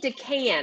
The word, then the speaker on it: DeCan: so i just hit record okay so decan am i pronouncing your last name right you are perfect